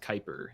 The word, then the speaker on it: Kuiper: I am at Kuiper. That's JUST, or sorry, JUST, and then Kuiper is spelled KUIPER. It's a Dutch name that I guess you know it isn't as phonetic as other names.